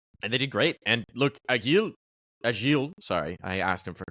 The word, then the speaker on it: Agil: So it should be Agil.